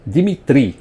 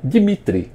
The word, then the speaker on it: Dimitri: Por causa disso, o nome dele é pronunciado Dimitri, como os franceses falam, e não Dimitri, como os russos falariam.